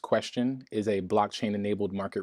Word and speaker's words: QSTN: now of course so qscn pronounced question is a blockchain enabled